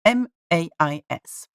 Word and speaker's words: mais: You have this word, M-A-I-S. Without tréma, mais, okay? It means mais, as in but, okay? It means mais. So the A and the E, so A-I, are pronounced together, making the sound E.